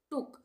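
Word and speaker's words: took: यहां पे बुक L double O के लुक टी डबल ओ के टुक। यहां पे सब में छोटे ऊ का उच्चारण आ रहा है।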